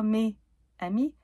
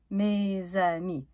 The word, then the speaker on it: mes amis: Pas "mes amis", "mes zamis".